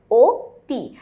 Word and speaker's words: অতি: আমরা জানি অতি শব্দের সঠিক উচ্চারণে হচ্ছে ওতি।